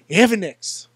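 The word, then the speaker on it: Evix: how do you pronounce how do you pronounce it is it evex is it ionx what is the answer and Mr leea he said evex evex that's what it is we know now for sure it's evex we have Mr Lee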